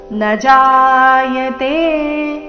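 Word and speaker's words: न जायते: ನ ಜಾಯತೆ ಇಲ್ಲಿ ನ ದೀರ್ಘ ಮಾಡಬಾರದು ನ ಜಾ ಈ ರೀತಿ ಮಾಡಬಾರದು ನಜಾಯತೆ ನ ಕ್ಕೆ ಮುಂದಿನ ಶಬ್ದ ಜೋಡಿಸಿ ನ ಜಾಯತೆ ಮ್ರಿಯತೆವಾ ಕದಾಚಿನ್ ನಾಯಂ ಭೂತ್ವ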